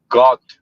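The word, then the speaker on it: Gåte: pronounced got, something like that, got or Yeah.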